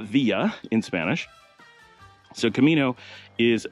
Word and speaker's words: villa: they use the term via or way. And in Spanish, they use camino or walk. But simply because the pronunciation of villa is via, exactly the same as